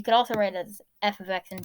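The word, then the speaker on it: f(x): If you see something like this, if you see that f of x, that f parentheses x is pronounced f of x is equal to mx plus b, that's the same thing.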